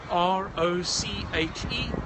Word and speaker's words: Roche: My name is Roche, and that's spelled like the medicine brand, R-O-C-H-E, Roche, if you prefer, R-O-C-H-E.